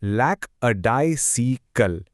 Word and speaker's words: lackadaisical: इसे प्रोनाउंस करते हैं लैक अ डाइसिकल।